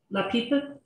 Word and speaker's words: lápiz: Leah, remember for learning like the European Spanish, you pronounce the Z or the C like a th, like you have a lisp, right? Lápiz.